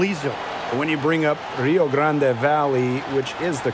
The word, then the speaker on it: Rio Grande: When you bring up Rio Grande Valley, which is the correct pronunciation, but anyway, the longtime affiliate of the